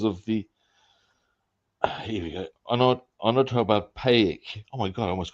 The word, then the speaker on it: onomatopoeic: Onomatopoeic. Oh my god, I almost got that one right. Vividness. It is also Norma Snockers. So there we go. Onomatopoeic. That's how you say it. Onomatopoeic.